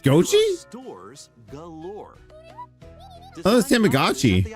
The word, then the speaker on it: gotchi: Goi. It's pronounced Gochi.